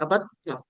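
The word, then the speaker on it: عَبَدْتُّ: दाल और ता इकट्ठे जुबान पे बोलना मुश्किल होता है अरबी में, तो ता बोला जाता है अबत्ता, ठीक है।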